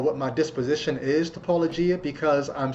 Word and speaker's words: Paulogia: So most YouTube apologists who talk about this guy, they call him Apologia, all kinds of things. But it's Apologia. That's what he goes by.